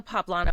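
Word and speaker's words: poblano: It just the corn and the poplano I think take it in a very different direction. That is exactly right. That's exactly how to say it.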